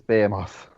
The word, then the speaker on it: Behemoth: out of the lot it's B be moth beam Craig Charles always taught us to say it wrong so it's be moth I mean you're not